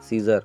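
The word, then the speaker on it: scissors: यहाँ पे यस के बाद में सी आया तो यहाँ पे सी का प्रोनाउंसिएशन बिल्कुल करना नहीं है। क्या बोलना है यहाँ पे? सीजर।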